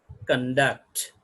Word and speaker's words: conduct: it is a verb the stress has going to shift to the duct conduct so we can go through with the conduct conduct is car and duct the stress is on duct why because it is a verb so this is the